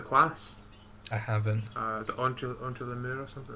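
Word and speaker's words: Entre les murs: Is it Entre le Mur or something it's called?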